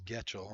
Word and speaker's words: Getchell: They're mispronouncing her name by the PA announcer because it is Getchell.